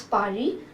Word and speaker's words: Paris: So the capital of France is Paris, and in French we say it as Paris, but the spelling is same.